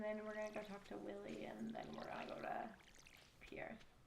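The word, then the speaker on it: Pierre: we're gonna go to Pierce. Or Prairies, if you want to say it wrong like I do.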